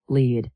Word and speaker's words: lead: Answer lead. Yes, it sounds exactly like the color red.